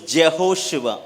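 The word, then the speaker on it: יהושע: இருக்கிறது எபிரேய மொழியிலே ஆமென் his name in hebrew is jehoswa ஜெகோஷுவா என்று சொல்லி எபிரேய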